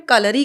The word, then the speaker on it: Kalari: हम पायट, जिसमें हम कलरी को प्रैक्टिस करते हैं। तो कलरी पायट होता है, उसको शॉर्टकट में कलरी कह सकते हैं। लेकिन कलारी बिल्कुल भी नहीं करेक्ट है।